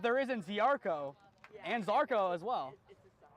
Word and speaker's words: Zarko: There is no I in team, but there is in Ziarko and Zarko as well. Now, if you're Polish, it's Jarko.